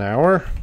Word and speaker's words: hour: hour yes it's an hour the H is silent and it's a university